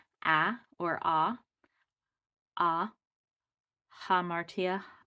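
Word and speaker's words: ἁμαρτία: rough that means it has an H sound so this is not uh it's ha hamartia hamartia means sin so hamartia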